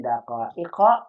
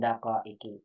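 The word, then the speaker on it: دقائق: Khamsi daqaiqa bukan daqaiki.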